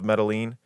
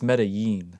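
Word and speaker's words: Medellín: It's It's Medí. Medí. Yeah, I'm making it very white. Yeah, cuz it's got two L's at the end, so it's a Y sound.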